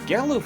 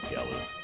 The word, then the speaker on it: Galuf: Oh, by the way, I know that everyone disagrees on how to pronounce names, but I once heard someone say Galuff, and I just can't take a character named Galuff seriously. I'm sorry.